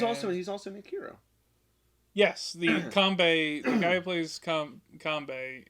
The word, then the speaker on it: Kanbei: You have Kumbai, right? That's how you say his name. He's the older gentleman. Kanbei? Kanbei.